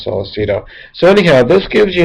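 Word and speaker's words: Sollecito: I think his last name is pronounced Salceto.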